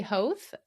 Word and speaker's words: Hoth: It rhymes with both, but I forget to tell people.